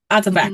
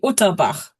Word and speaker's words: Utterback: Utterback. Mhm. Okay, because I say that German, which would be Utterbach. And it is German, but yeah, we say it the old American way.